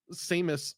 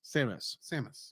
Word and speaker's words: Samus: And one other thing, it's like when Samus. It's literally the name Sam. Yeah. With an us. Samus.